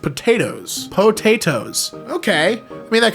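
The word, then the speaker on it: Potoooooooo: He is now best known for the unusual spelling of his name pronounced potatoes.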